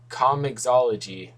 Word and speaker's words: comiXology: got on Cosmic all sorry comixology that's how you pronounce it um basically digital Comics